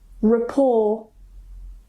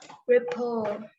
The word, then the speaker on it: rapport: Oke, so this one malah R-nya nggak kedengaran, apalagi karena memang ini apa namanya French words ya.